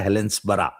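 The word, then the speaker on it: Helensburgh: लिफेस्टर पढ़ते हैं लिस्टर जहां भी बी ई आर जी बर्ग लिखा हो वहां पढ़ो उसको बरा कल गया था एक जगह हेलेंस बरा लिखा था हेलेंसबर्ग पढ़ते हैं हेलेंस बरा एडनबरा तो वहां पे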